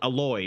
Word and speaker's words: Aloy: It rhymes with like a metal or a steel or some shit like that. Alloy, there you go. Aloy, whatever her name is.